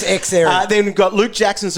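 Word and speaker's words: Xerri: lost today x erie guess how i heard him pronounce today zerry we've probably called him that along the journey anyway we would have everyone knows it's x error then we've got luke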